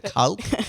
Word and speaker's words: Kalk: Is that how we pronounce it? The Kalk? The Calc, yeah.